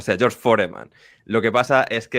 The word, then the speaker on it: Foreman: me hace mucho ruido Escuchar forman y no foreman para mí es George foreman de toda la vida ya Ya no esto